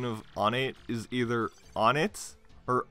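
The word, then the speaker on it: Onett: and one of my friends decided to say one at and I called him out on it so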